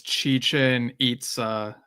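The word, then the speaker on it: Chichén Itzá: And one of our commenters, all one same, says Chichen Itza as the pronunciation.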